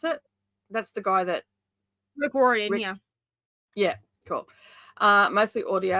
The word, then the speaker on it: Rick Riordan: Is that how you pronounce it? That's the guy that... Rick Riordan, yeah.